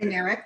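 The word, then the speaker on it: Winarick: A couple of just, like the accent on the wrong syllable. The family that owned the Concord was the Winneriks. Winnerick, okay. Winnerick, that's how it's pronounced.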